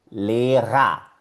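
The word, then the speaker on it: Lehrer: Lera, lera. Primera sílaba, le. Segunda sílaba, ra. Significa profesor. Lera. Y ves que la ER está en la última sílaba.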